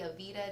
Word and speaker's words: Aveda: She is currently in school to become an esthetician at the Rosiri Aveda. Did I pronounce that right?